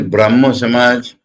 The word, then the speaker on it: Brahmo Samaj: What is Brahmo Samaj? Brahmo is the Bengali pronunciation. Brahma. Bengali pronunciate as O. So Brahmo.